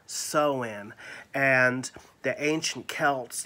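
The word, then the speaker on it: Samhain: harvest rituals particularly sewen it's spelled s-a-m-h-a-i-n as a nancy but it is really pronounced as sew-in and the ancient celts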